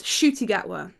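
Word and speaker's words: Ncuti Gatwa: I have rarely heard it aloud um it's shoy gwa yes that's how I've been pronouncing it um ever since I found out that it's not pronounced NTI um but apparently shy gwa likes to make uh he made a playlist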